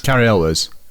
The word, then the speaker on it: Cary Elwes: I'm saying Carrie El Carrie Elves. Carrie Elwiz because that's right.